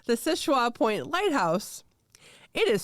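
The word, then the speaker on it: Seul Choix: it is no so it is called the sisha point lighthouse it is spelled s e u l c h o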